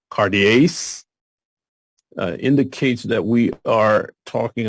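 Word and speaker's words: καρδίαις: in the sinners cuties cardias Cartier's the accent notice is on the second syllable cartierce indicates that we are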